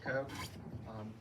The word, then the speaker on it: Koch: And we have a third candidate for Municipal Budget Committee, Koch. Did I say it wrong? No, you got it right. Thank you, everybody. My name is Koch.